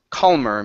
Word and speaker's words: calmer: Next up is calm, calmer. Make sure to pronounce that L sound, calmer.